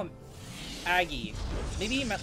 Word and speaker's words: Agge: auggie okay so i i asked augie how to pronounce his name aggie aggie he said aggressive but without the i sound made by the e it i don't know